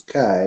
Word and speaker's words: Chi: as the Chi roll the X is Chi in Greek and the P is